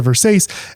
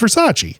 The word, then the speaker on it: Versace: And she's like, it's a Versace. And he is nice and is like, no, it's pronounced Versace.